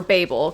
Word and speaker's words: Babel: So the full title of Babel, or Babel, because it's a different pronunciation depending on where you're from, but it says Babel,